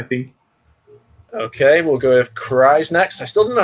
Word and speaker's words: Kyrass: Okay, we'll go with Kyrass next. I still don't know how to say your name, man. I've known you for ages and I still don't know how to pronounce it. It's Kyrass.